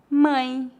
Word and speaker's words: mãe: O ditongo nasal ãe pronuncia-se aproximadamente como as letras A, I, N, ãe. Veja alguns exemplos. Mãe, pães, cães.